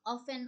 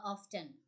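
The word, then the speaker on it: often: করে লিখতে চাই বলা যায় অফেন আর্গি দ্যাট অফেন অথবা অফটেন দুইটা প্রোনাউন্সিয়েশনই কারেক্ট।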